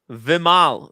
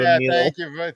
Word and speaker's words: Vimal: It's Vimal. V plus mal. 2 syllables. Tim G. Tim G. Can you read this? He's calling him Vimil.